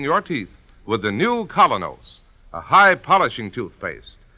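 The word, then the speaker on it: Kolynos: is start cleaning your teeth with the new Colonos, a high polishing toothpaste.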